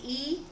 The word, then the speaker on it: y: reason they did it the main word for and is the letter y and we pronounce it e but the next word